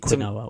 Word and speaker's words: quinoa: But, she's eating some sweet quinoa or something.